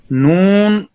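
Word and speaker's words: نون: Noon, Noon pronounced as noon, start using corner of tongue touching base of teeth or gums of front corner teeth. Repeat. Noon pronounced as noon, start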